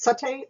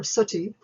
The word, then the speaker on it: sati: Let's consider the condition either pronounced sati or suti.